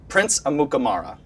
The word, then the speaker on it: Amukamara: And it's funny because if you actually read it, you say it how it's spelled.